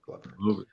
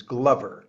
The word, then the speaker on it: Glover: Yes, Glover. We got the pronunciation of his name definitively settled. It is Glover, not Glover.